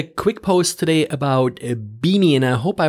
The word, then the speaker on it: BIMI: i wrote a quick post today about a beanie and i hope i pronounce it correctly it's an acronym b-i-m-i and